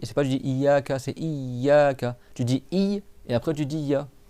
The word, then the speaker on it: إياك: Il faut juste que tu doubles ya, iyaka, et tu prolonges i. C'est pas tu dis iyaka, c'est iyaka.